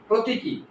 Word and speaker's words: প্রতীকী: কোন পদ বিশেষণ পদ ঠিক আছে এরপরেরটা দেখো প্রতিকী প্রতিকী শব্দটি এই হচ্ছে তার শীর্ষপদ এটাও শীর্ষপদ শীর্ষপদ এটা হচ্ছে তার উচ্চারণ ঠিক আছে খেয়াল করবা এখানে দীর্ঘ ইকার